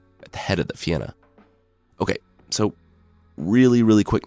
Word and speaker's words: Fionn: called Finn mul but I've been assured Fen is is approximating the correct Irish pronunciation anyway it's a name